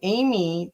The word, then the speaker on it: Ami: and and so what's fascinating is you also had a crystal skull that was called Amy, that AMI is. Am I pronouncing it right?